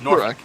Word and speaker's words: Norfolk: town in the county i pronounce it norwalk norfolk yeah but she but she'll go norfolk see that that just doesn't sound right now she's from franklin